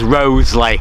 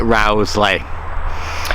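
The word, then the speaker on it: Rowsley: live out here and they tell me it should be pronounced rosley I have a habit of calling it Rowley anyway ahead of me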